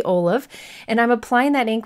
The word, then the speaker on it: Olove: Yeah, that's how it's supposed to be. It's, I think the story is the owner's daughter pronounced olive that way, or no, Olaf from Frozen. So anyways, it is supposed to be olive, and I'm applying that